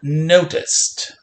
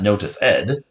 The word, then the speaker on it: noticed: second sound right it's not notice ed it's not ed it's not noticed noticed